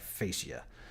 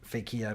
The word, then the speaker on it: Phaeacia: name I call it I think the correct pronunciation must be like facie but I like to call it fake here because it sounds silly and fake eeeh there is